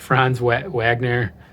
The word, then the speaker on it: Franz Wagner: va what what how do you say it franz wagner i screwed that up but after slow start